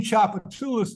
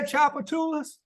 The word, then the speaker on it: Tchoupitoulas: look at it and in English it looks one way but you say it a different way so for instance in